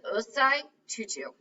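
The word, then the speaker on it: Osei Tutu: his right here yeah um his name is ozai tutu so that's how you pronounce that tutu is actually a common african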